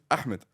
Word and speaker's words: Ahmed: Ahmed. Ahmed. See, why is there Ahmed? No. Try Should I do Ahmed? Huh? Ahmed.